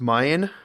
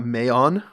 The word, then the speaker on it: Mayan: It's pronounced Mayan, not Mayon.